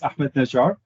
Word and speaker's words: Ahmad Najjar: so uh first things first my name is ahmed najar a very good job faisal pronouncing my name uh so i'm based in